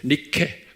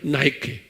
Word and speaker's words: Nike: 니케, Nike. 그걸 우리 발로 하면 니케예요. 그래도 영어로 발음하면 나이키.